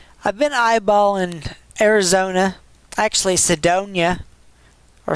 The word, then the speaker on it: Sedona: But that, I've been eyeballing Arizona, actually Sedona, or Sedania, depending on how you pronounce that, in Arizona.